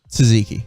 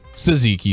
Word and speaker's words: tzatziki: tzatziki tzatziki sauce uh how do you spell it t z a z oh i think there's a in there there's another tea there's two teaspoons wow that's a lot of teas a lot of silent teas man and so many